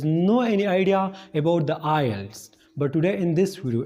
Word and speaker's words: IELTS: Most of our subscribers has no any idea about the Ielts. But today in this video, in this short video, I'm going to make you all understand about the Ielts.